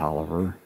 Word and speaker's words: Taliaferro: it but uh there's Robert Taliaferro pronounced Oliver the most famous Statesman